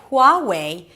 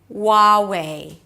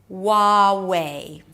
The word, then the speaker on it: Huawei: Instead of saying Huawei, you pronounce it as wa, Huawei. Wa, so it's a W sound, then the ah as in father, wa, and then way,